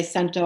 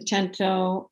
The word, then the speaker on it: cento: gotten into the cento some people say sento i like the italian pronunciation but um love the gento and tried some sonnets